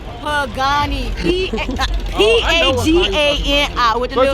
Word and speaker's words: Pagani: Pagani.